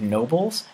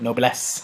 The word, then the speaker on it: Nobles: saying last names correctly my last name is nobles and OB Elias and people always pronounce it noblesse I'm like no not no nobles see if I slept